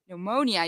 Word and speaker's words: pneumonia: all the letters but in pneumonia you don't say the P so I couldn't say